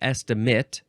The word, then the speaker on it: estimate: Go, The second form of estimate, it's pronounced estimate, spelled the same, noun from 1552, 1, the act of appraising or valuing.